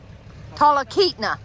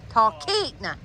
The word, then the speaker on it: Talkeetna: Talkeetna. Talkeetna.